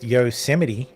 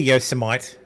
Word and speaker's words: Yosemite: Meat candy says it's pronounced Yoseite. No, it's clearly Yosemite.